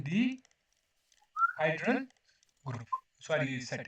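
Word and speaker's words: dihedral: DN group ठीक है इसको कहते हैं D hydel group sorry set है ना डिहाइड्रल ठीक है तो प्रोनाउंसिएशन यौगिक पढ़े आप तो डिहाइड्रल इसे कैसे कहेंगे डिहाइड्रल इसे मतलब ये क्या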